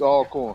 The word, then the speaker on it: Alcorn: would be alcorn as well alcorn not alcorn alcorn oh lord come on now gotta get it right before the show you if you go if you're going to say it you're going to say it right it's all corn all right i just